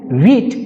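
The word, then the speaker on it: wheat: गेहूं को बोलते हैं वीट सीड्स वीट ऊपर जो वीट पढ़ते हैं इसमें एच साइलेंट वीट नहीं पढ़ेंगे वीट गलत होगा एच साइलेंट है इसलिए पढ़ेंगे वीट वीट सीड्स गेहूं को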